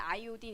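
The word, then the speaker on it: iodine: 하냐면 은 i 오디오 요오드를 이제 영어식 표현으로 하면 은 아이오딘 이라고 발음을 하나봐요 이제 아밀라제 우리 침이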